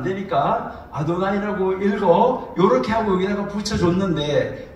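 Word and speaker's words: אֲדֹנָי: 그래서 요게 뭐냐 하면은 요걸 그대로 읽으면 아도나이가 돼요. 아도나이. 들어보셨죠? 자, 아도나이. 그래서 이것을 아도나이라고 그리는 거예요. 근데 아도나이라고 그러는데 요거의 모음 부호를 여기다가 붙여 놓은 거예요. 자, 그러니까 이제 여기에 요 단어에 있는 아도나이, 나의 주라는 단어의 모음 부호를 여기다가 붙이면서 앞으로 요 단어가 나오면 아도나이로 읽어.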